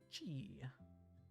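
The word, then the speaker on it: ち: Chi. Chi, chi, chi. Like cheese.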